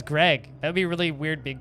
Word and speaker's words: Greg: narf unlike you guys the g in my name is not silent my name is greg that'd be really weird